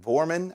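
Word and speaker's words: Woerman: Vorman, I think is how you pronounce it.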